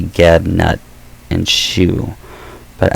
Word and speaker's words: Nut: I say Geb, Nut, and Shoe, but I think not N-U-T is actually pronounced Newt. If I'm thinking correctly, I think I mispronounced that.